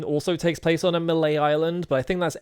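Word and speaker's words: Mêlée Island: Yeah, it's Malay Island, but you you pronounce it Mele, I'm pretty sure.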